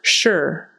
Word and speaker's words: sure: is sure sure so it's going to sound sort of like s h e r even though it's spelled s u r e but sure sure and don't make it too short like Americans they're not going to say like sure sure it's got to be held out a little bit